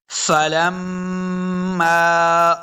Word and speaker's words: فلما: بسم اللہ الرحمن الرحیم۔ فلما رأوہ، فلم فا کو تلفظ کے ساتھ پڑھنا ہے۔ فلم لام کو میم کے ساتھ ملانا ہے، میم مشدد ہے۔ جب بھی میم اور